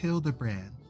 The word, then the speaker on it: Hildibrand: It's pronounced Hildbrand.